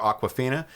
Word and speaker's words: Awkwafina: You guys know the bottled water, Aquafina. It's not spelled like that. This is AWKWAFINA, Aquafina. Oh my god. She does. Aquifina.